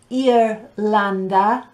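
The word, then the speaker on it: Irlanda: pause in that list i think perhaps the only one that's difficult to pronounce is ireland it's ear lander and the only one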